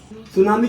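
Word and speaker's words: tsunami: एन ए एम आई सुनामी की spelling होती है टी से शुरू तो क्या बोलना है टू सुनामी क्या बोलना है नामी टू सुनामी क्यों ताकि याद रहे ठीक है हां सुना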